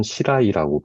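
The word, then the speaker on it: 白井: 흰백자에 우물정자를 써서 일본어로는 시라이라고 발음을 하는데요.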